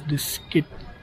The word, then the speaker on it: Diskit: Sounds like biscuit, but it is diskit.